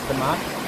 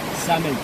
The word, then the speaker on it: Samed: Is it Samad? Samed. Samed? Yeah. Samed. S-A-M-E-D. Samed. Samed, yeah. The full name is Samed. Samed. Samed. But yeah, just Samed.